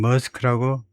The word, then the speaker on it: Maersk: 가지는 보통 머스크라고 표기하고 머스크에 발음은 스크 근데 애 발음이 아주 짧아야 되니까 머스크라고 발음하는게 스크 애가 딜말하고 뭐에다 추천을 고스 알바음을 조금 조금 하는게 좋죠. 스크 조금 조금 길게 우리 식으로 그냥 머스크가 아니고 스크 머스크 정도로 하면 되겠네요.